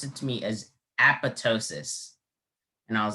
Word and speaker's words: apoptosis: the actual uh pronunciation there's a silent letter uh if i had gone just off the uh actual pronunciation i would have spelled like a-p-o-t-o-s-i-s but since i asked the alternate pronunciation the judge revealed that there is a p right here between the o and t apoptosis and if i